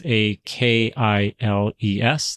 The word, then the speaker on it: Akiles: One of the companies that sells these, or the brands, I should say, is called Achilles. I believe that's how it's pronounced. It's Akiles. That's the one that I have.